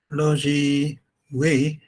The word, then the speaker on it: Loh Zhi Wei: So Logi Wei, I hope pronounce it Yes, correct, correct.